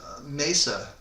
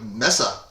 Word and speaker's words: Mesa Boogie: So, you and you said Mesa. Yeah. Boogie, which is the correct pronunciation.